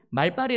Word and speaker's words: 말발: 를 제어할 자는 없다 여러분 말빨이 라고 들어보셨죠 표준어는 말발이 더라구요 발음할 때는 말 딸인데 말빨이 뭐냐면은 말하는 능력입니다